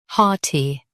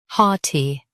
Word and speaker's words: haughty: Haughty. Now read the syllables shown on the screen naturally. Ha. T. Haughty. Stress ha and keep T light.